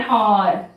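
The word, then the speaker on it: hour: आर्स नहीं बोलेंगे, ह का प्रोनाउंसिएशन, उच्चारण हम क्लियरली करते हैं हॉर्स में, लेकिन ऑनेस्ट में और आर में एच क्या है? साइलेंट है। एच जो कॉन्सोनेंट है, व्यंजन है, साइलेंट, उसका आवाज नहीं, साइलेंट है।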